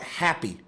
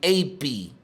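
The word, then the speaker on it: Hapi: So, another form of the god Pan is the Egyptian god Happy. Now, if you take the H off of it because the H is silent, it would be Api.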